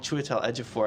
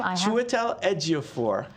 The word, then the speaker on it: Chiwetel Ejiofor: Actually, my money is on Chiwetel Ejiofor.